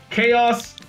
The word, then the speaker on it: Kheios: let's just rename the deck renaming the deck chaos let's see it's print it's spelled k h e i o s chaos